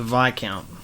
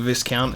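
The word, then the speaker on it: Viscount: moniker is unclear the vi count it's not not the discount it's not said how it's spelt silent s i've never been ridiculously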